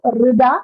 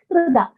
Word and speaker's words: हृदा: The Hrida, it is not Rida, it is Hrida. So the Hakara has to be a little more audible because it sounds like Rida. It should not be Rida.